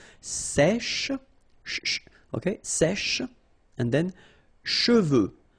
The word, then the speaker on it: cheveux: Usually this one is a bit of a problem because some of the students normally pronounce it chevaux, okay? So try to keep in mind that you get E-U here.